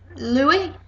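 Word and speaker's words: Lleu: his nephew um pronunciation I think it's Louis it will be it'll be Louis um double l e u This was um Julie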